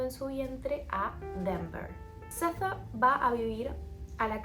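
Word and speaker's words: Sethe: Estuve viendo videos porque, pues, traductora y profe inglés, y quería saber cómo se pronunciaba este nombre, y en entrevistas Toni Morrison lo pronuncia así, Seth, así que es por donde voy a ir.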